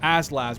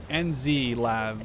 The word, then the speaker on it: NZ LAV: these ends lavs are I called them asls but they're actually pronounced their NZ lav like New Zealand lav I need to really